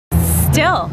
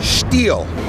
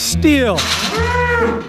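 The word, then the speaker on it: Stihl: Still. No. Steel. Style. Sure it is. Steel. No matter how you say it, steel makes yard work quick and easy, with blowers starting at $179.95.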